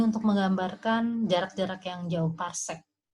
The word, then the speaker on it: parsek: Cuma ini untuk menggambarkan jarak-jarak yang jauh, parsek. PC itu parsek. Dibacanya parsek.